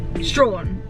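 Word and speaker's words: Strahan: um heading on to our next destination to strawn over but i pronounce it quickly we've done a quick pit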